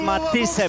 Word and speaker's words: Matthysse: No i jej rywalka Edith Matisse, bo tak się powinno je wymawiać, ma holenderskie pochodzenie, 16 wygranych, 10 porażek, 1 remis.